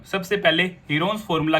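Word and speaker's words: Heron: सबसे पहले हीरोन्स formula की मदद से हम इस ट्रायंगल का एरिया फाइंड आउट कर लेंगे। हीरोन्स फॉर्मूला आपका चैप्टर 9 है क्लास 9th का, जिसकी एक्चुअल प्रोनाउंसिएशन है हिरंज फॉर्मूला।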